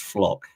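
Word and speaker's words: Flach: already um he's a a midfielder called Leon flock it it's spelled flat but it's I bit advised that it's pronounced flock um but he's a holding midfielder uh he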